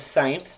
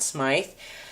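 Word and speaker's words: Smythe: my editors remind me that the way to pronounce my name is syth not Smite and actually when I did research at the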